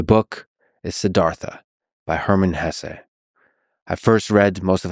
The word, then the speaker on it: Hesse: It was written by Hermann Hesse. And by the way, please allow me this pronunciation of his last name. I've heard some people say Hess, but my whole life I've always said Hesse.